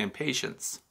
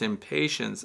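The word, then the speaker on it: impatiens: Now, I know a lot of people mispronounce that and say impatience. So it's impatience, I-M-P-A-T-I-E-N-S.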